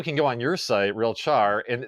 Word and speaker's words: RealChar: through how do you is it real Char or real care how do you say it yeah it's a real Char so real time yeah